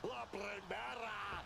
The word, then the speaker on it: La Primera: You need to roll your R's a little bit on that, man. La Primera. Oh, yes, man.